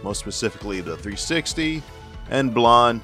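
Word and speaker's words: Blanc: specifically the 360 and blonde who is not pronounced Blan is based on Nintendo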